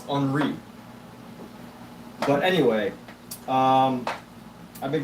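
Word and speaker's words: Henri: Robert enri uh the the book pronounced Robert hry but I think it's unri but anyway um I've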